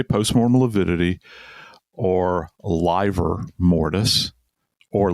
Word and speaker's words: livor mortis: And when we say post-mortem lividity, or livor mortis or liver mortis. Some people pronounce it that way.